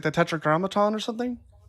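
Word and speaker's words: Tetragrammaton: Okay, so you do say and um what is it called when you spell it that way? It's like the tetra grammaton or something.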